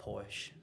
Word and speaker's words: Porsche: A Porsche. Damn. Porsche Macan, man. So you know it's serious when your car rhymes with horse.